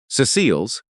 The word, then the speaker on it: Cecile: Cecile's, with the accent on the first syllable the way she had always insisted on.